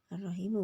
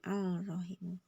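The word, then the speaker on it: الرحيم: Sya huruf samsiah lanjut arrahimu bacanya arrahimu bukan alrahimu ada tanda bacanya tasdid juga attawabu bukan altawabu paham ya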